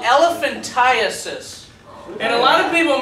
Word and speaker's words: elephantiasis: a round worm it's caught listen it's called elephantiasis and a lot of people mispronounce it they call it elephantitis comes from a little round worm that gets